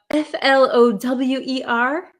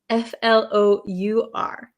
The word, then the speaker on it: flour: and f-l-o-u-r okay so these are both pronounced exactly the same so don't worry they're both pronounced flower flower so f-l-o-w-e-r it has a w flower and the other one like uh how you with uh for cooking flour it's exactly the same even though there's